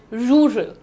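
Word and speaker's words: rural: हाउ डू you pronounce it? रूरल।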